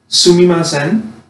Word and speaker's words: sumimasen: And so, this is how you say, excuse me, in Japanese, sumimasen, right?